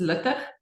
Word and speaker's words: Luttig: I'll give you the Afrikaans, which most people struggle with. It's Luttig. So it's like a sound, which is very hard to say. So Luttig is fine.